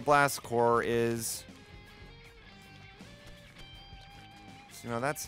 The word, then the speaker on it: Blast Corps: I told my mom I wanted blast corpse cuz I didn't know how to say it and she thought it was a you know a violent corpse killing game but it wasn't it's not a blast core is you know that's